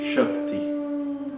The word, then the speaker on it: Shakti: Outro exemplo é Shakti. Sh é um dos nomes da grande deusa do hinduísmo. Então, não é necessário nenhum esforço especial para produzir esses sons de Chiva de Shart.